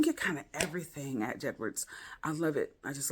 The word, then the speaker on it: J. Edwards: Another one is J. Edwards. I always call him Jedwards because it's spelled J-E-D, Jed Words. It just helps me remember it.